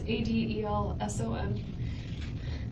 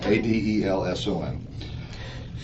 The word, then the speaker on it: Adelson: It's Adelson. Actually, it's spelled right. I said it wrong. Adelson.